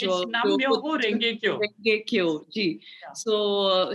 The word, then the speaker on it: Nam Myoho Renge Kyo: I'll not be able to pronounce it correctly. It's Nam Myoho Renge Kyo.